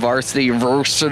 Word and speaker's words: Vrsty: Trenton here with SoundlinkTV with the one, the only Joey from Vrsty, or however you want to pronounce it.